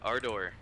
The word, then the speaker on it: Ardor: at our door and he's like hey uh our door yeah is that your name am I saying